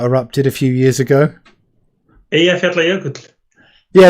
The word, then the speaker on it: Eyjafjallajökull: Can you pronounce the name of that volcano that erupted a few years ago? Eyjafjallajökull. Yeah, it's that one. Yeah. Eyjafjallajökull.